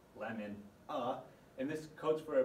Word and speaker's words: LMNA: HGPS is caused by a mutation in the gene called LMNA, pronounced lemon-a, and this codes for